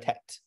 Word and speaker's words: Tet: 11a is the letter tests or the letter tet the way we're going to pronounce it in this um in this course